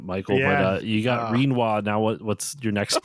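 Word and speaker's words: Rinoa: I just started pronouncing Renoa's name like quinoa. Reinoa.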